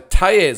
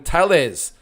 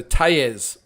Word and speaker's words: Tellez: Okay, Tellez, yes, double L is pronounced like a Y. So Tellez Thanks, Volley. All right, so Tayez. I've been pronouncing it wrong. I've called him Tellez.